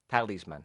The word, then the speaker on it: talisman: now it's interesting that in spanish i think you have the tilde the accent over the a yes that is man you say in english it's the opposite is the first syllable tali's man talisman tell this man now uh what is